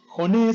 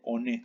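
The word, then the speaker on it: 骨: Hone significa hueso o huesos. En japonés se dice hone, no se dice one. Mucho cuidado.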